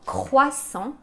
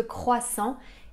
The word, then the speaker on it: croissant: en et attention attention le T à la fin de croissant est muet on le prononce pas